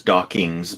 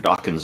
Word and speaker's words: Dawkins: pronounced mispronounced it as dockings but a lot of people do that and so yeah it's important people to remember when mentioning Richard Dawkins name it ends just with NS not NGS so just just keep